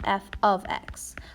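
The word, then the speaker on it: f(x): pronounce it earlier, but that f with the parentheses and an x inside is read as f of x. So if you were trying to read it, it would be f of x.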